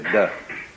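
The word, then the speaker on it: 德: The Japanese pronounce it toku, the Cantonese dak, and the northern Mandarins approximately de.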